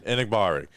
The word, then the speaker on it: Enagbare: And I know you know how to pronounce the name. Enagbare.